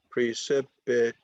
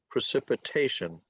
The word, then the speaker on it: precipitation: is on all right it's five syllables precipitation so it's on it's a it's a 5-4 word the emphasis is on the fourth syllable precipitation okay so rain is